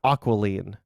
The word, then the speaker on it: aquiline: That is not how you say that word. I spelled it wrong. How do you say that? That's not aquiline.